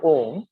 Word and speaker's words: om: three ohms okay now ohm is essentially a combination of three syllables uh ooh and mum okay so when we chant om i want you all